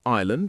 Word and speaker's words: island: We also have island with a silent S, biscuit with a silent U, receipt with a silent P, and muscle with a silent C.